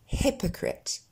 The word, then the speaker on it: hypocrite: petit peu plus compliqué, où on a tendance à mettre des « I », surtout à cause de son écriture, mais ce sera bien « hypocrite ».